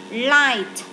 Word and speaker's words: light: Light, way, cough. Bây giờ cough là chữ phờ này, chữ G hờ này đọc là phờ này. Cough, way là câm này. Light chữ G hờ câm luôn và daughter là câm luôn.